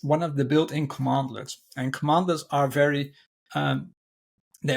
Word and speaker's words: cmdlets: So probably the standout feature of PowerShell are its commandlets, CMDLETS. So it's pronounced commandlets, and they're sort of like the building blocks of PowerShell.